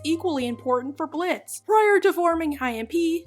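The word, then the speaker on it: Blitzø: of his name to blitz oh didn't it have an o at the end like a clown name yeah well it's silent now okay so call me blitz wow let's just basically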